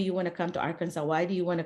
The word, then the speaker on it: Arkansas: everybody it's not Aransas it's not an S at the end it's a w pretend it's a w so Arkansas it is spelled with